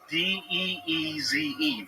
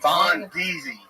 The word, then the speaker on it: Von D's: But yeah, it's spelled V-O-N and then an apostrophe. VONDEEZE. Von Deezy.